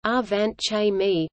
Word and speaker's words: Angewandte Chemie: Angewandte Chemie, German pronunciation, Angewandte Chemie, meaning applied chemistry, is a weekly peer-reviewed scientific